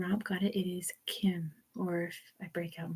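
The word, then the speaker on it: 김: It is Kim, or if I break out my Korean pronunciation, Kim, Kim, Kim, Kim, Kim, Kim. Not Kim with the hard K, it's Kim.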